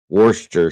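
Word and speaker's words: Worcestershire: no you in it worsters Shire Worchester Shire is the way it would be broken down but the Brits say Worster wur s yeah they leave off the Shire so they just say Worster sauce probably easier honestly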